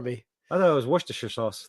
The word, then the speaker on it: Worcester: saying it I just in the public chat pronounce that for me I thought it was wer sauce like wer yeah yeah that's what I thought